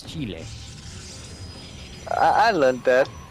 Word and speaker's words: Chile: in my life where i pronounced chile as chili uh yeah that's something the kind of in english that's i think that's like how they pronounce it chili i mean my chili was that you know that food spice yeah yeah yeah but no it's it's chile i i learned that